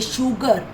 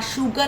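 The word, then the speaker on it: sugar: In some words, S gives the sound of sh. जैसे शुगर, S-U-G-A-R, शुगर आपने English के chapter mini bake brownie में किया था. ऐसे ही यहाँ भी S की साउंड श आ रही है.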